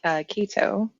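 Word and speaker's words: Ceto: I actually really enjoyed There's different ways to say her name, but I say Kito.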